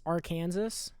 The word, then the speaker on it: Arkansas: um all right uh for those of you who don't know how to pronounce this it is our kansas we have the flag